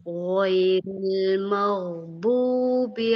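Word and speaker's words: غَيْرِ الْمَغْضُوبِ: Ghairil maghdubi.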